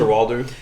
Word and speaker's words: Coster-Waldau: Coster-Waldau.